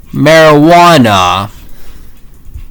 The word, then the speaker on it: marijuana: Um the word or example is marijuana. Also the J also also also the J is actually silent though. Well, you know, well, as you know, Jay has Jay's phone is J. I mean, yeah, but however, but also but also Jay's phone is actually Y.